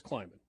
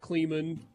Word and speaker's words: Kleiman: And then it's Chris Kleiman. Not Kleeman, not Clemon, whatever other. All right, so. Kleiman.